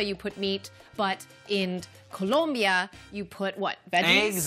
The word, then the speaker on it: Colombia: It comes from Colombia. Hold up. I have been told by people who have lived there that it is pronounced Colombia. Sorry, Colombia. Colombia, not yes.